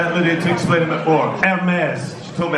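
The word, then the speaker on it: Hermès: Hermes, she told me how to say it as well.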